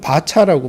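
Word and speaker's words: VARCHAR: 저는 캐릭터, 베리어블 캐릭터라고 읽는데, 흔히 필드에서는 캐릭터, 이거는 캐릭터라고 주로 읽는데, 이거는 바차라고 많이 읽대요. 그냥 보이는 대로 바차.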